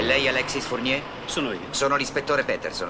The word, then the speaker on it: Fournier: Si pronuncia Fournier.